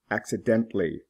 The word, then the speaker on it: accidentally: Accidental. Accidentally. The L is not pronounced.